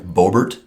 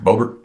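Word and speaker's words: Boebert: I'm saying it right it's Lauren bobbert is that right babbert bobert I think it's bobert who has said that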